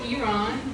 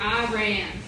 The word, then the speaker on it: Iran: So if you pronounce it correctly, which is Iran, you're against the war. We like you. And you get a free Persian rug at the end of the show. Yeah. If you are for the war, you pronounce it Iran. Right. You're laughing because some of you do call it Iran. So where are you running to? Right. It's not pronounced that way.